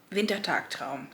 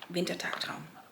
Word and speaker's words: Wintertagtraum: Wintertagtraum, yes. I was like, was it Wintertraum, Wintertagtraum? So Wintertagtraum.